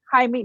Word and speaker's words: Jaime: Jaquez, is it Jaime? Yeah. Jaime, Jamie, not Jamie.